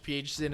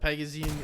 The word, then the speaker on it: Phzin: My Brazilian counterparts told me that in American English, Phzin is fine, but Phzin is the proper pronunciation.